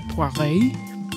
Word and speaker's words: Poiret: Paul Poiret. I thought it might or be. Or if you really want to French it up, Paul Poiret.